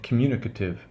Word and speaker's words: communicative: value as a schwa so I say communicate you can hear the 8 there communicate but when I say well I the I've AE that 8 becomes no communicative but good - good good good - communicative to communicate communicative you might want to